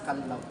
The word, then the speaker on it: Callao: kind of bird the off but the correct pronunciation it's kallaw once kasing pan magkahiwalay c then l o